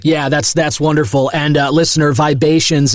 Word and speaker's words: Vibations: And listener, Vibations is spelled Vibations, like the vibe Asian.